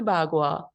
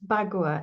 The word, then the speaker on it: Bagua: It's pronounced differently in Chinese, and this is the English way of pronouncing it. I think they call it Bakwa, but you'd have to check on that.